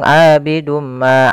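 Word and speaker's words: عَابِدٌ مَا: kita cara membacanya adalah kita masukkan tanwinnya kepada huruf mim kemudian ditahan abidumma tahan MMA baru dilepas jangan langsung abidum Ma abadtu misalkan jangan tapi caranya adalah kita tahan dahulu abidum Ma abadum pada lafal Ma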